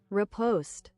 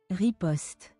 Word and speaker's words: riposte: Riposte. Riposte. It still has the O. The accent is on the first syllable. So in English, we're pronouncing the wrong syllable from the French origin.